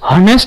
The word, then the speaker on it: honest: इन the beginning but its pronunciation is or its sound is vowel sound. For example, honest. honest. How will you pronounce it? Honest. honest. Will you pronounce as honest? Ke timi yeslai honest bhanchau?